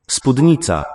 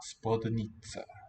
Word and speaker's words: Spódnica: Spódnica. Spodnica. So there's an accent on the O, but the E sounds more prominent.